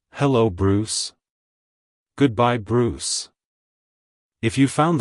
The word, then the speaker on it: Bruce: personality it's pronounced as Bruce Bruce Bruce to pronounce it correctly emphasize the oo sound and end with a soft s sound avoid pronouncing it as Bruce E E like hello Bruce goodbye Bruce if you